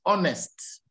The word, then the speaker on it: honest: The second is honest. The third is honor. These 3 words are the ones where you don't pronounce H. The rest, you must pronounce H.